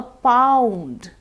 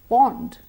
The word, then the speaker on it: pound: sound different for example a pound cannot be pronounced bond bond is different it's a body of water pound is the British currency similarly instead of mouth